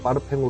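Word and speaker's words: parfum: 용어들이 프랑스식으로 사용되고 있어요 그래서 퍼짐은 프랑스식으로 파르팽 발음하기 때문에 프랑스 브랜드들은 오드 파르팽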